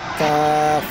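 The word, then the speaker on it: ك: কাফ, কাফ বলার সময় মুখটা একটু চ্যাপটা হবে, মানে শক্ত করে একটু চ্যাপটা করে বলতে হবে কাফ, এরকম করে।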